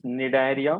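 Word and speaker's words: Cnidaria: ठीक है, तो here protozoa, second one is Porifera, third one इज निडायरिया, C silent है।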